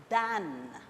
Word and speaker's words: than: Please note the correct pronunciation, than. Spelling T-H-A-N.